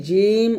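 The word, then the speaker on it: جيم: তালু সংখ্যা লাগাতে হবে এই জিম উচ্চারণ করার সময় আপনার জিহবাটা যেন কোনভাবে দাঁতের সাথে টাচ না করে এটা একটু সতর্ক থাকবেন তাহলে এটা জিম আর জিম উচ্চারণ করার সময় অবশ্যই একটু টান দিবেন।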